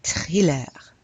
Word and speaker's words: thriller: Un thriller. Un thriller. Yes, yes. They'd use a lot of American words. You have to pronounce it with a French accent, though.